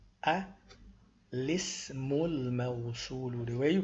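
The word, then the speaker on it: الاسم الموصول: The hamza is pronounced because it's hamzatul wasl. It's written as an alif, but it's really a hamza. And you only pronounce it when you start with it. And we're starting here, so we say a.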